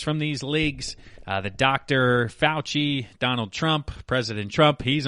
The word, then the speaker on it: Fauci: Fauci, I believe it is. Fauci. I knew I was going to mispronounce it at some point here.